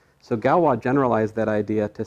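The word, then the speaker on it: Galois: problem but then this fellow named galwa he's french it's spelled like this invented something that's based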